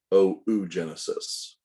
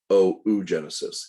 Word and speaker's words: oogenesis: the mature egg is called oogenesis or it's pronounced oh genesis it is not pronounced oogenesis although i pronounce